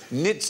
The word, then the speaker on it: knits: the QA where tonight the K is silent as in nits not snackers knobs let's